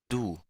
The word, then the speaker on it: Du: nos adelantan de que hay una pronunciación con la U, como la U del español, y una pronunciación con lo que vendría siendo el schwa.